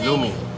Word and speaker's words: Lomi: Lomi.